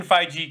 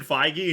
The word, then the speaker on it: Feige: close friends with kevin feige and you still don't pronounce his last name right what's with you in that soft g only his close friends